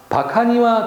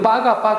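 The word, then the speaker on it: バカ: 파미콘이 카케 때와 고도모 가로 열고 바카니와 데키나이 우리는 빠가 하죠. 근데 원래는 바카입니다. 바카 우리는 빠가 이렇게 되죠. 우리가 쓰는 발음으로 쓰면은 바가 하지만 정상적인 일본어는 바카입니다.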